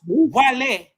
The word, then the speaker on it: Guale: one gu the place of the sun native American origin the guale pronounced guale were the indigenous Mississippian